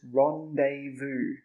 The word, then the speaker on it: rendezvous: This word is rendezvous.